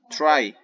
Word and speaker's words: try: It's not tree. Try. Try. Se pronuncia try.